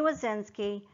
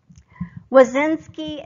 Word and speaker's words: Woszczynski: Wazinski and I'm Professor of Information Systems at Kennesaw State University, and I'm excited to be the teacher for your course.